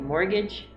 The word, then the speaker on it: mortgage: right now is mortgage because you don't pronounce the t like mortgage or colonel is very